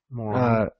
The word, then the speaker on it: Moron: Cody Moron. Yeah, It's pronounced moron.